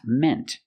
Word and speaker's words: meant: In the present mean use the long e sound like green beans and in the past meant use the short e sound like 10 and red.